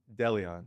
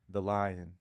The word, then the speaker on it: De Leon: Ladies and gentlemen, please welcome Delon. How do you say your last name? Don. Deleon. Deion. Deleon. The lion. The lion. I like that.